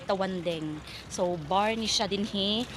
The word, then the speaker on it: Tawandang: Okay, ang spelling niya is Tawandang pero i-pronounce nimo siya isulti nimo siya is Tawandeng.